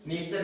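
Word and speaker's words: Dniester: उसको भी सेम ऐसे ही प्रोनाउंस हम क्या बोला, हमने नीस्तर बोला, लेकिन वो लिखेंगे कैसे, इस प्रकार से।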